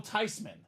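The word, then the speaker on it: Theismann: been living a lie this whole life Joe tyman the proper pronunciation of the last name Robbie Joe tyman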